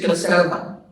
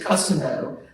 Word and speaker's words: Kosovo: On one of my deployments to Kosovo, it's many people pronounce it Kosovo, but the Albanians prefer Kosovo.